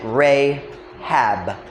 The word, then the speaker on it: Rahab: We normally pronounce it Rahab.